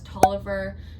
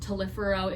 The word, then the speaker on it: Tolliver: An example is Tolliver, spelled Tolifero if you read it the way that it's spelled out, but it's Tolliver.